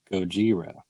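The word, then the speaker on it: ゴジラ: the matthew project yeah in japanese it's called gojira no they like really they really hated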